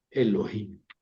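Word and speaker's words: אֱלֹהִים: Suena como una e brevíima, ¿verdad? Ven, Elohim. Eh, sin embargo, eh eh sí, sí hay que pronunciarla, ¿verdad? Como una breve, Elohim.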